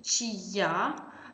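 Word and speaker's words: чья: Quindi, un pronome per i sostantivi maschili che si legge chei. Un pronome per i sostantivi femminili, chia.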